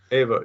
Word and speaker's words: Eva: It's written Eva, but they pronounce it Ava. Ava, yeah.